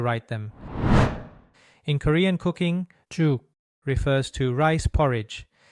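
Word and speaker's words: 죽: The first sound in the word juk is written like this in Hangul. It's the same syllable as gug, which we studied earlier, but here we're replacing the first consonant with this one that represents the J sound in English.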